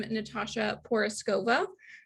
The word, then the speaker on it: Natasha Porizkova: Oh, and I just saw in the chat, if I could pronounce my own name, I'm Natasha Porizkova. So that's how you pronounce my name.